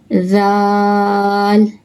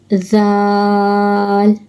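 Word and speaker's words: ذال: Zal. Zal. Pronounce from the top of tongue and the inner edge of the upper teeth.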